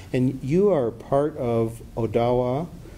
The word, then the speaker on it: Odawa: you are part of Odawa some Americans will have seen that spelled like Ottawa but it's Odawa you would say and Lota and